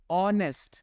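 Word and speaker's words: honest: important word यहां पर spelling लिखी हुई है एच से लेकिन इस वर्ड का जो बोलने का तरीका है उसमें एच साइलेंट है आप सिर्फ इसमें यहां से शुरुआत करोगे बोलने की तो इसका पहला जो वर्ड है यह क्या है ऑनेस्ट यहां पे ऑ वर्ड आएगा और अगर आपको ध्यान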